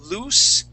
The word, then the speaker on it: loose: we still say oo so loose with two o's lose with one o both of them are an oo sound okay now in this word it sounds like a z it's voiced okay so when we pronounce that lose when you pronounce that Z you can feel the vibration here in your throat loose no vibration lose vibration that's voiced